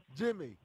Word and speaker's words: Geimi: How do you say your first name? Jamie. Jamie. Yep.